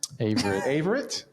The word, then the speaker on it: Averitte: Averitte. It's a hard A. It's a hard A. With an I.